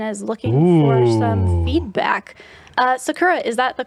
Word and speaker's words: Sakura: Sakura, is that the correct way to say your name?